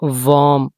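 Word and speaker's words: warm: फार्म खेत एच ए आर एम हार्म नुकसान हार्म नुकसान डब्ल्यू ए आर एम वार्म are silent करके ही पढ़ेंगे।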